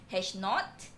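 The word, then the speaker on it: H₀: The usual notation that we use is hash O, but we pronounce somehow as hash naught.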